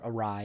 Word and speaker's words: awry: a little bit crazy, a little awry is the word, the right pronunciation.